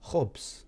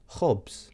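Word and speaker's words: ħobż: Another example of a word would be khobs, which is bread. So once again, we have khanzir or khobs. So the letter on its own is pronounced ch. So we have khanzir, khobs.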